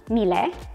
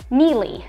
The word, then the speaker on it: Miele: viewers lucas w um said that it was pronounced in german mile in italian it's and in english i had to google this it's mealy so we've kind of